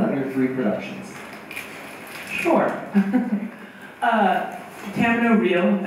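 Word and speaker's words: Camino Real: Tamino Real, as Tennessee wants you to pronounce it, was actually a co-production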